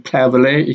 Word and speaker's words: cleverly: The stress on cleverly here is on clear, and here we have clear, clearly.